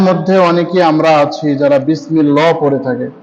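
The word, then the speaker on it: بِسْمِ اللَّهِ: আমাদের মধ্যে অনেকে আমরা আছি যারা বিসমিল্লাহ পড়ে থাকে, এখানে কিন্তু বিসমিল্লাহ হবে না, বিসমিল্লাহি বিসমিল্লাহি।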